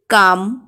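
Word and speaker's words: comb: যেমন দেখো নেম, কাম, take, fake ইত্যাদি। এম এবং বি কোনো শব্দে পর পর থাকলে এবং বি এর পরে যদি কোনো ভায়োল না থাকে তাহলে বি এর উচ্চারণ হয় না, কিন্তু কনসোনান্ট থাকলে বি এর উচ্চারণ হয়।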